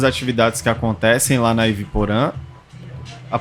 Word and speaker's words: Yvy Porã: que acontecem lá na iip poran a pronúncia é essa sim é a a pronúncia é u poran calma aí vamos lá